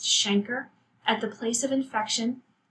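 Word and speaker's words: chancre: ulcer called a shanker another trick you want to spell that's pronounced shanker at the place of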